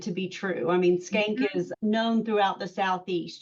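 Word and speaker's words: Schenck: I am saying it's Skank, but it's spelled S-C-A. Sorry, I have the humor of a junior high boy. Okay, it is what it is, people. E-N-C-K, yes.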